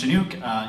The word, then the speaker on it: Shenuque: No, my name's Shenuque. You spell it this way?